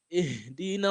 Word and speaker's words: اهدنا: But you pronounce this one here with kasra. We all know that, right? اهدنا الصراط المستقيم اهدنا الصراط المستقيم.